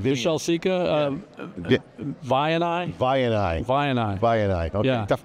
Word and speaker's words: Vianai: They have a deal with Vishal Sikka's company, Vinya. I think it's called Vinya. Vishal Sikka, Vianai? Vianai.